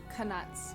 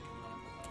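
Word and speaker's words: Knuts: And he says Canuts when he's talking about. That's actually Canuts.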